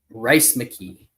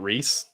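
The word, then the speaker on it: Rhys McKee: welterweight division taking on Rice McKee it's always weird that they actually pronounce it as rice it's not Reese not Reese he's uh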